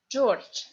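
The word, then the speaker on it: Джордж: George. That's funny because zh in the end of the word we pronounce like sh. And this d also we pronounce like t, George.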